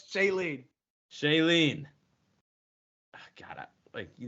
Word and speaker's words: Shailene: I forgot about what, but it's Shailene.